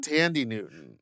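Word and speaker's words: Thandie: Tandy. Tandy Newton? Tandy Newton is how you pronounce That's not the girl from Greece.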